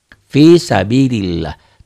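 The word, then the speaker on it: في سبيل الله: Fi-nya matobi'i. Sabi, bi-nya juga matobi panjang. Kenapa kasroh dengan ya mati? Nanti kita bahas ya matobi ya. Fisabilillah. Lafaz Allahnya dibaca tipis, dibaca tarqiq.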